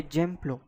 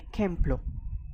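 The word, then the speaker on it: ejemplo: Note over here this is not a gemlo this is a kempl because j in Spanish is pronounced as kot c.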